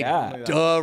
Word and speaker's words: Die: Yeah, Die means the, and Ringer. It's D. D. Yeah. What? That's how you say it.